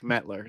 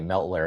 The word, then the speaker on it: Metler: We can't all have perfectly phonetically said names like Metler. Nothing. Your name has never been butchered, I'd assume, right? Oh, I get Meltler a lot.